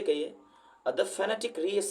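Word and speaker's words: phonetic: ए टी आई सी बहुत लोग इसको फोनेटिक बोलते हैं लेकिन दोस्तों ये गलत है इसको बोला जाता है फेनेटिक फैंटास्टिक का मतलब होता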